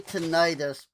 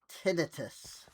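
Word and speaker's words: tinnitus: I say tenitis, but according to the doctor that I was seeing about it, it's actually pronounced tinitus.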